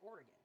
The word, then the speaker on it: Oregon: you pronounce it with if you pronounce it like gone instead of oregon like it doesn't roll off the tongue it's more fun to pronounce it oregon i'm sorry it just